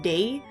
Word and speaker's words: Daae: This game pronounces Daae as Day. Christine herself is from Scandinavia, so I'm not super sure on how that would affect the pronunciation of her name, but most people tend to pronounce it as Daae. So I kind of lean towards that as being correct.